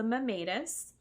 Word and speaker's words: Mammatus: And I've seen a couple pronunciations of this word online. I don't really know. This is just what Webster's dictionary says. It's the Mammatus, and it's by Gabrielle Matthews.